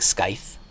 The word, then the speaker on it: scythe: Somebody made fun of me in the comments for saying Scythe. I know it's Scythe, but I like saying Scythe better. I think that hard C sound is definitely more in theme of what it sounds like to scythe someone.